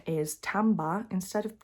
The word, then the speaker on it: timbre: So you'll see an interesting thing about this one is the pronunciation is timbre instead of timber, as it looks like it should be.